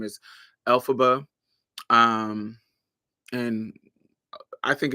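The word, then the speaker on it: Elphaba: but it that how when you say her name L FB it's l FB and the original author of um um the religional author of um the wizard eyes is L frank bomb so alab alab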